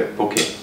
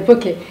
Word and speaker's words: poké: E la dicitura su Wikipedia, perché mi sono informato da chi ne sa di più, dovrebbe essere poké, con l'accento sulla finale. Sulla finale, poké.